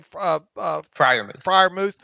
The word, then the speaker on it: Freiermuth: How you pronounce his last name? Freiermuth.